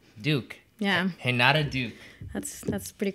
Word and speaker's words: Duque: That's a long story, but Duque. Duke.